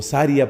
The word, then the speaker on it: sharía: es lo propio de la sharía O saria pronuncia otros Es decir de la